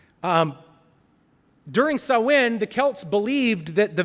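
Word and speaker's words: Samhain: ha a i n but it's pronounced sawin um during sawin the Kelts believed that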